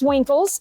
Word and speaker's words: Winkles: A lot of people get your last name wrong, but it is Winkles.